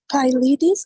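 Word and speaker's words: pyelitis: Teacher, is pielitis or pielitis? Pielitis, I'm sorry. Pielitis. Yes. Always you check this itis, pronunciation itis, no matter the suffix, okay?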